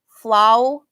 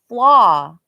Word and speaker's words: flaw: Flow. Some people say that too, man. It's flaw. In all of these words, the W is kind of silent.